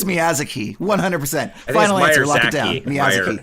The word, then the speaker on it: Miyazaki: haven't even gotten to Maya Maya Zaki yet is that how you say it so yeah Miyazaki right I'm pretty sure it's Miyazaki 100% Final Answer lock